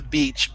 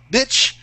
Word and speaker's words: beach: Is beach, as in going to the beach. Beach. Yeah, okay, more strong is another term. Yeah, bitch would refer to, it's an insulting term for a woman. Okay. So, yeah, be very careful of your pronunciation.